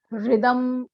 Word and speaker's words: हृदम: ठीक, हृदम ऐसा, हृदम ऐसा उच्चारण करना है।